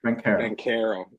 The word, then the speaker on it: Banchero: Banchero. I got to do it with a K.